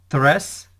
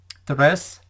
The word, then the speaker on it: tres: 3, pronounced in Spanish, is tres, tres, tres. So for me, tres sounds like dress, and 3, my image for 3 is tree.